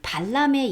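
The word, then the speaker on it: Balaam: turns curses into blessings like b 그 발람에 예에서 보는 것처럼 람 또는 발람 하고 그대로 발음해도 됩니다.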